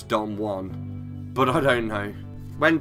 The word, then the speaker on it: Don Juan: with with the narrator he couldn't pronounce Don Juan he called him Don jewel on which I'm pretty sure is not I'm pretty sure it's Don Juan but I don't know